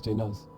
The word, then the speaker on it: Janus: My designation is spelled J-N-U-S, pronounced as Janus.